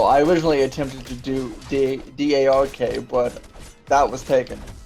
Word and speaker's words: Drk: So, you know, Drk Penguin was actually taken, so you know, looks, he did it Dr. K, which is very often how it's pronounced by most people in chats.